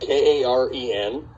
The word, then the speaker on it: Karen: that's their pronunciation if you saw it because it's spelled k-a-r-e-n it is karen liberation and so that means